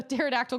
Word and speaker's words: pterodactyl: you hear me just pronounce that P the pterodactyl going to the bathroom cuz the p is silent oh I can go